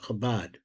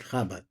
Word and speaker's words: Chabad: What they call it Chabad. We pronounce it Chabad.